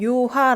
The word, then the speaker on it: 요하: 강의 나는 강이 흐릅니다 이게 중국어 발음으로 리아 오어 강 이구요 이제 어 그 한 문을 그대로 읽으면 요하 라고 부르는데요 이요 하에 동쪽 요